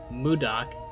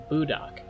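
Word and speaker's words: мудак: amusing for other trolls he pronounces the name mudak which is a Russian cuss word as budok I remember I talked to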